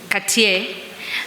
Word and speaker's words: Cartier: How do we pronounce it? Cartier.